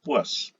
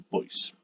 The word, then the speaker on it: poise: se conoce como el poise. Bueno, viene del francés, se debiera pronunciar poise, pero normalmente pues aquí la denominamos un poise.